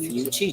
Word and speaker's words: Yuchi: So it's Yuchi, just like chi. I should have known that with the chi at the end of it, right? You know I'm off this morning. So it's the Yuchi tribe.